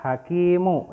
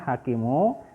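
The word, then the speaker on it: حكيم: Nah ya, ini bacanya hakimu. Ketika kita mewakafkan atau ketika huruf terakhir ini diwakafkan, maka huruf terakhirnya dihentikan. Yang tadinya hakimu, nah kita lihat setelah diwakafkan dia akan menjadi hakim.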